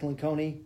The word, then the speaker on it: Lencioni: do their best there's some great literature Patrick Lencioni that's how you pronounce his name but he's written a number